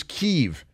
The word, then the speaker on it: Kiev: to send billions to Kiev which they pronounce keev down at the Washington Post hungary's Orban drops opposition